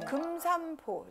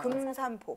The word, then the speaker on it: 금산포: 우리가 글씨로는 금산포 이렇게 쓰여 있지만 연결해서 읽으면 금산포 입술 발음처럼 읽히죠 금산포 그렇게 읽으셔야 돼요 한 글자 한 글자를 너무 정확하게 한다고 해서 금산 이렇게 하지 마시고 금산포 살짝 미음 받침처럼이어서 도라지부터 백도라지까지 어디